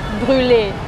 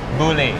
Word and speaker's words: brûlée: Crème Brûlée. Crème Brûlée. Crème Brûlée. Let's start with crème. Crème. You know crème means, right? Yeah, I know. Crème. Crème. Crème. Yes. Brûlée. Brûlée.